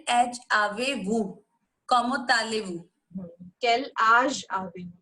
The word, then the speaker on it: âge: Quel âge avez-vous? आज as in आज, जैसे हम बोलते हैं ना आज, तो आज. Quel âge avez-vous?